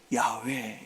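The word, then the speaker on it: 야훼: 옷을 입으시면서 물을 마시면서 잠을 주무시면서 숨을 쉬면서 예 숨이 숨이라는 것은 그죠 원래 우리가 하나님의 이름을 야외 이렇게 부릅니다.이 야외는 히브리 말로 발음이 되는 것은 아닙니다. 이건 숨쉬는 소리입니다. 숨쉬는 소리.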